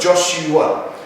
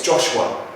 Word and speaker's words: Joshua: Now then, when we say Joshua, we turn that into a three-syllable word, Joshua. But actually for this song, it's Joshua. Joshua.